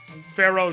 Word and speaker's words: Phero: called the Pharaoh rune Pharaoh not spelled like Egyptian pharaoh Pharaoh like pheromones p h e r o um most